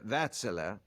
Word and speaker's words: Wärtsilä: I've always wondered pronounce it Vatel.